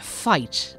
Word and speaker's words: fight: In most other cases, however, the GH will have no sound at all. Words like fight and bought and caught. Many of these words with a silent GH end in T.